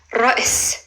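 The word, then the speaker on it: رأس: Ra, it's a rolling R, Ra. And then there's a very short like Amelia, Ra. And then there's a glottal stop. And then there's a S. Ra'is, it means head.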